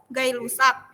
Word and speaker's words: Gay-Lussac: Kalau hukum perbandingan berganda itu John Dalton, hukum penyatuan volume Gay-Lussac ya, bukan G ya, dia bukan G ya, ngerti nggak? Namanya aja yang G ya.